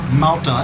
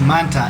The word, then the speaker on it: Manta: And I was thinking it was an L, not an N, but it's okay.